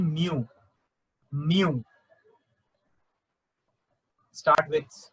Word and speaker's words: mu: Mu. Start with. It's, you can pronounce like this way, mu.